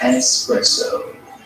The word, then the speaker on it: espresso: Dude, it's pronounced espresso.